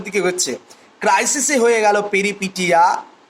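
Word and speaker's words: peripeteia: ক্রাইসিসে হয়ে গেল পেরিপিটিয়া, পেরিপিটিয়া বা পেরিপিটাইয়াও অনেক উচ্চারণ করে, অ্যানাগনরেসিস, ক্যাটাস্ট্রফি।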